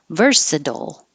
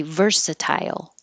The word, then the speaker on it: versatile: but with sound Tunisia versatile and it is also possible to say versatile but it's more British English than American English Americans are going to change that t to a D verse Dole versatile and I hope this